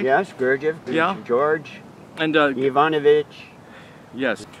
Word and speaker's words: Gurdjieff: Yes, Gurdjieff.